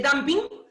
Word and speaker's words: dumping: el damping el damping Está bien lo que dice pero se escribe dumping ya se lee damping pero se escribe dumping ya que el damping